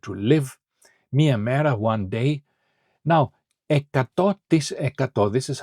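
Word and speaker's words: εκατό: Now ecato ecato this is how you pronounce percent in Greek ecato is 100 ecato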